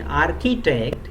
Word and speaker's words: architect: is the correct pronunciation in architect CH I is K that is the three-letter CH I in the word architect are pronounced curve okay but in arch it